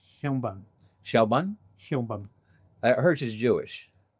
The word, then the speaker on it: Sheinbaum: Sheinbaum. Hyunban. Sheinbaum.